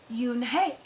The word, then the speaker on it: Eun-hae: "It's spelled U-N-H-E-I. It's pronounced Yoon-hae."